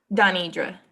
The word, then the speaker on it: Donidra: Is it Denidra or Donidra? Donidra.